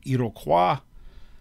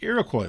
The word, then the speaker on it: Iroquois: the arrival of europeans the iroquois league technically uh the french pronunciation would be iroquois um their name for themselves is sony i go with the americanized uh pronunciation but the iroquois league five united tribes